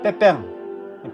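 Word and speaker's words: Pépin: 샤를 마르텔이 죽고 그 둘째 아들 빼뺑, 피핀이라고 되어 있는데 불어 발음은 빼뺑이에요.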